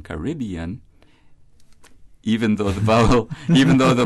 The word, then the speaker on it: Caribbean: yo that's Spanish right whose syllabic stress like that of Caribbean as we prefer it is on the penultimate syllable B cuyabeno Spanish con